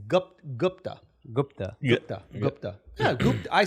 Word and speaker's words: Gupta: How do you pronounce his last name? Gupta. It's Gupta.